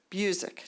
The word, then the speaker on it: Busiek: Also, if I mispronounce the name, please correct me. It's Busiek.